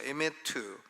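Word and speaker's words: אמת: 라고 합니다 헤세드 와의 매트위에 요에 매트 한번 발음 해보시죠 에 매트 매트 라는 말은 하나님은 페이스풀 에 한번 약속하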